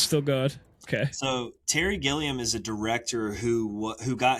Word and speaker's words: Gilliam: Yeah, Terry Gilliam.